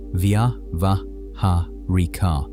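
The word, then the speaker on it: vyāvahārika: The first is called vavahharika pronounced via vahar which translates as something like conventional or practical reality.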